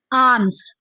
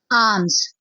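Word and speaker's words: alms: की इंग्लिश होती है आर्म्स आर्म्स इसमें एल जो है वह साइलेंट हो जाता है एल प्रोनाउंस नहीं किया जाता इसे पढ़ा जाता है आर्म्स आर्म्स एतकाफ एतकाफ को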